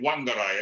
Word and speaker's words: Whangarei: Which you spelled with a WH at the beginning, Whangarei. And I remember when I was there, I kept to call it Whangarei, and I said, "No, Shaun, it's Whangarei."